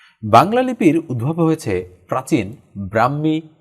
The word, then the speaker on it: ব্রাহ্মী: প্রাচীন লিপি থেকে বাংলা লিপির উদ্ভব হয়েছে প্রাচীন ব্রাহ্মি বা আমরা কি বলি ব্রাক্ষী লিপি থেকে আসলে উচ্চারণটা মানে শব্দটা মনে হয় এখানে ভুল হয়েছে